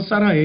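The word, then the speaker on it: שָׂרַי: 본래 발음은 사라이에요.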